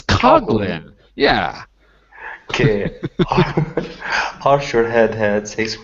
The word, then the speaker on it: Coghlan: It's Coghlan.